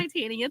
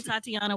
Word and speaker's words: Titania: Titania. Thank you for pronouncing it correct. Well, listen, I know cuz you let me butcher this. Oh my goodness. They call me Tatiana.